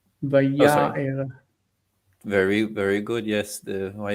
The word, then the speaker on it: ויאר: one, just notice the stress. Vaya'er.